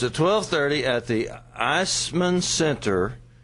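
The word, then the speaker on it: Eisemann: So it's at 12:30 at the Eisman Center. Eisman is spelled funny. E-I-S-E-M-A-N-N. Yeah, it's a German thing.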